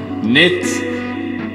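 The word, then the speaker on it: knits: k for that one nits silent k for that one not to be confused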